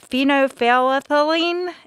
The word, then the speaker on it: phenolphthalein: The first test that they did was, I think I'm probably going to butcher the pronunciation of this, but phenolphthalein, is that right? Mm-hmm. Yes, it is.